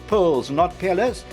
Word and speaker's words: Pelles: He says the pronunciation is Psalis.